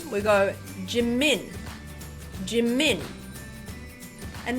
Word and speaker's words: Jimin: go jimin jimin and notice how that first syllable is very short it's almost over as soon as we see it instead of G jimin right so what we want to do in Korean is making sure that every syllable is of equal length so we're going TI mean remember to soften your J C min equal length and another example of